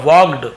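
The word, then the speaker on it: walked: पे देखिए वॉक का वाक्ड है ना वाकड़ सेकंड वल्कन नहीं पढ़ेंगे ल साइलेंट होता है तो वॉक पढ़ने हैं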